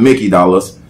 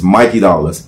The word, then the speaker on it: Mikey Dollaz: spelling my name wrong it's not Mickey dollars it's Mikey dollars m-i-k-e-y-d-o-l-l-a-z what about Twitter